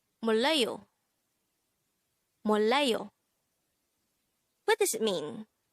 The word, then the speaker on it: 몰라요: This is pronounced as a three-syllable word. The first syllable is mol, second syllable is la, the third syllable is yo.